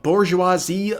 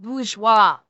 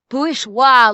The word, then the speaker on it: bourgeois: It's pronounced bgeoa. Bourgeoa luxury, not bour. It's where the whole bougie thing is.